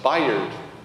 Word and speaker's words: Bayard: It's pronounced Bayard.